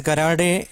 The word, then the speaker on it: gerade: In some universities they pronounce it as garade, ungarade. They just pronounce it as garade. We call it as gerade, but they pronounce it as garade in some foreign universities.